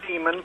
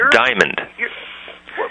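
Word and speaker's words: Dimond: Look, you got Brother Demon pulling stuff out of context. You can't even pronounce his name. It's Diamond.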